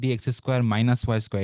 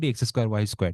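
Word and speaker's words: dx²-y²: এই মাইনাস না, এটা বেসিক্যালি একটা হাইফেন, বুঝছো? হাইফেন। সো আমরা উচ্চারণ করবো ডি এক্স স্কোয়ার ওয়াই স্কোয়ার, ঠিক আছে?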